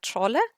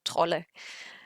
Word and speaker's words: Trolle: I looked up how to pronounce her name in Swedish, so because I've seen so many different pronunciations from Maria Trolli to Maria Troll and stuff like that, and the Swedish page said Maria Trolle.